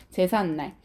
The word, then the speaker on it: 제삿날: 그러면 한자어와 우리말로 된 합성어면서 앞말이 모음으로 끝나고 있으면서 뒷말의 첫 소리 지금 니은으로 시작하고 있으면서 발음을 했더니 제삿날이라고 해서 여러분 없었던 니은 소리가 새로 생기고 덧나고 있다라는 거 확인할 수 있겠다.